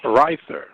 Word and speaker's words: Reicher: Spell it one more time, Dre. Reicher. Reither. Right. So the H is silent. Reither. So Reither.